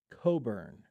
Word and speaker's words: Cockburn: Coburn Coburn what lions regardless of how that's spelled it is pronounced Coburn is that is that